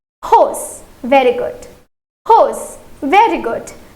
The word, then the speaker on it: rose: Okay, let's try to focus on its pronunciation. It is hose.